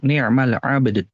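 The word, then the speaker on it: نعم العبد: Nah, ni'mal abd. Jadi si ba-nya dulu dipantulkan, baru dalnya, dua-duanya.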